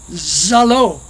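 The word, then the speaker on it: Saro: Charles, or S-A-R-O is Charles, and it's pronounced Zalo. S and Z are very similarly pronounced.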